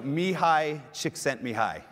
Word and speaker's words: Csikszentmihalyi: hands and the reactions all of you have read his name and not known how to say it is that so me hi Csikszentmihalyi some people say csikszentmihalyi which I think it sounds way too much like chicks think of me highly and so and by